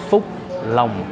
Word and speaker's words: Phúc Long: So the correct pronunciation of this place is Phúc Long.